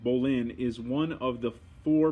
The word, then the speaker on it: bowline: slip knot bowline knot the boli knot pronounced bolin all right bolin is one of the